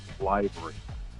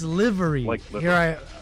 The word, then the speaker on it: livery: very important yeah please it doesn't pronounce library it isn't like thank you thank you i appreciate this correction how's it pronounced i'm supposed to be this pilot i'm supposed to be this pilot using all these pilot lingo and here i am misusing it how's it pronounced please liverp it's livery affirmative action pilot let's be